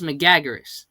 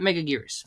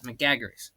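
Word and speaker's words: Megaguirus: Like Gabra's been red and it's pronounced Megagaras, not Meagaras. Megagaras.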